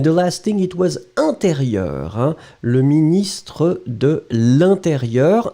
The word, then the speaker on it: intérieur: And the last thing, it was intérieur. Hein? Le ministre de l'intérieur. Intérieur, you will write it like E-N. Remember, it's a nasal, so everything is going in the nose. You don't pronounce any N.